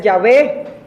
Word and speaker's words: Yahvé: algunas investigaciones recientes han dicho que la pronunciación más correcta es Yahvé, pero a nosotros se nos ha quedado mucho el Jehová por la Reina Valera.